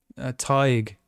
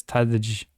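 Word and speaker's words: Tadhg: having trouble with again Irish names are weird because it's like we don't pronounce the letters the same way you know it's like um um TIG TIG TIG is his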